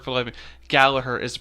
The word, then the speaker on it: Gallagher: Gallagher is the pronunciation. Gallagher is the pronunciation. But it's spelt Gallagher. It is spelled Gallagher.